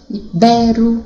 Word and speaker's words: ibero: Ibero, tá vendo? A sílaba forte é no bé.